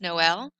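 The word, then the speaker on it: Noël: apart so normally oe together in french is pronounced uh so this word would be but we know this word means christmas noel i'm going to split it separates two sounds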